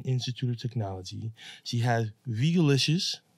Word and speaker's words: Vegalicious: She has Vegalicious. Did I say it right? Veggie-licious. Mm-hmm.